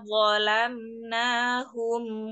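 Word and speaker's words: ظلمناهم: Hati-hati dengan pengucapan huruf wo. Itu masih kelihatan gambarnya, maka angkatlah pangkal lidah sampai dengan ujungnya ya, karena pengucapannya ini harusnya kebal ya.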